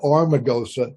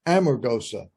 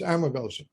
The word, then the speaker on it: Amargosa: practical purposes amargosa and it's not armagosa it's amargosa if you spell it right you'll speak it right okay so anyway it's amargosa i thought if i